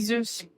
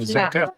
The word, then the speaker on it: Zurcher: mais si on veut le dire typiquement haïtien, on dit Zurché. Oui, typiquement, c'est Zurché. Mais normalement, c'est un nom d'origine allemande. Donc, normalement, on ne peut pas prononcer ça comme ça, Zurché. C'est Zurker.